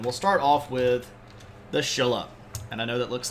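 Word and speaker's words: Silla: start off with the Shilla and I know that looks like Sila but it is pronounced with a sh sound so Shilla uh and we'll be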